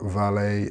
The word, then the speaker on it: valet: Again, with valet and ballet, there is no T.